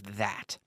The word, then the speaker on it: that: What is that? That. Estoy sacando la lengua.